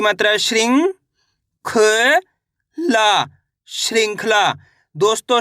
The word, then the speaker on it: श्रृंखला: अं की मात्रा है तो कैसे पढ़ेंगे श्रृंखला यानी कि अं की मात्रा का उच्चारण में निकलना चाहिए श्रृंखला इस तरीके से भ